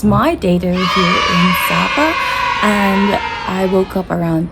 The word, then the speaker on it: Sa Pa: It is day two of our day here in Zappa. I think I said it wrong. Hold on. Let me just do it again. It's day 2. It's my day two here in Sappa and I woke up around 10:00 a.m.